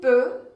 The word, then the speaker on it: peut: Gente, olha só, repararam que a pronúncia é exatamente a mesma? Je peux, tu peux, il peut. Ou elle, no feminino, né? Peut. Ok? Só o que muda é a escrita.